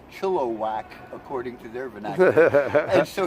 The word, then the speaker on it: Chilliwack: said Chilliwack and I didn't know it's pronounced phonetically Chilliwack but it's pronounced Chilliwack according to their Vaness so he said hey